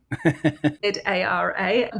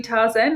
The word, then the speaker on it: Tzara: So Tzara spelled with a T, just to confuse everybody. Tzara. Don't call me Tarzan. I've been called Tarzan before.